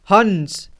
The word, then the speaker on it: हंस: देखिए यहाँ अन की आवाज़ आ रहा है, हंस, हंस, हंस में अन की आवाज़ आ रहा है, ठीक है। तो यहाँ अन टाइप से अंक का उच्चारण हो रहा है।